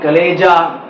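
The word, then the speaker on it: chalaza: हम लोग कहते हैं चलाजल एंड कहते हैं बच्चों, चलाजल एंड कहते हैं। गूगल प्रोनाउंसिएशन में कलेजा, कलेजल एंड ऐसे करके ये प्रोनाउंस किया जाता है।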